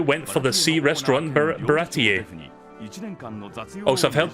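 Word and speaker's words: Baratie: for the sea restaurant Bharati a dose of help people say parity or but I think it's pronounced para para ta because that's how they say in the Funimation dub I don't know how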